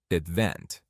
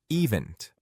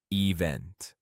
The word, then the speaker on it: event: I want to quickly point out the pronunciation of the word event. Many people say event but the stress is on the second part event. Event event. This is not event.